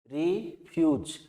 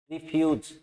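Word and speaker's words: refuge: रिफ्यूज, आप ध्यान रखें, इंग्लिश प्रोनाउंसिएशन के अंदर जो हिंदी में अपने ये बोलते हैं उसका फोनेटिक इंग्लिश के जे की तरह लिखा जाता है और ये की ध्वनि देता है। रिफ्यूज, रिफ्यूज, ये के आगे बड़े ऊ की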